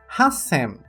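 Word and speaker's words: 八千: E para o número 8000, hasen. Hasen, o qual mantém-se a pronúncia do sen, mas o hachi é tirada a leitura ti e acrescentado o ti saitsu, indicando a pausa.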